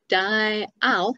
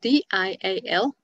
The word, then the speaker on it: dial: I was impressed with that, even though it wasn't quite right, because dial is D-I-A-L, as opposed to dial, like smile, which is only one syllable.